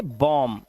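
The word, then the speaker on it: bomb: इसी तरह से बॉम्ब। बी साइलेंट है।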